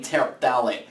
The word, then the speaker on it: terephthalate: I have to tell you, I love seeing words that have a PH followed by a TH immediately after it, just because it makes for some interesting pronunciation issues when I say terephthalate.